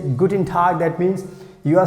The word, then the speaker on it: guten Tag: you meet with someone anybody you can say guten tag that means you are saying hi hello good